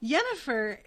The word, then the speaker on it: Yennefer: It's so funny saying Yennefer, because my mom's name is Jennifer, and my uncles from Colombia always called her Yennefer, because in Spanish, a J is pronounced like a Y.